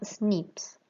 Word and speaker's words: SNP: abrevian como snp y la pronunciación de estas siglas en inglés suena snips los snips no están